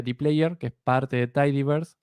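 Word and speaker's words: dplyr: Luego tenemos, esto se pronuncia dplayer, que es parte de Tidyverse, al igual que ggplot, al igual que RMarkdown, al igual que Shiny.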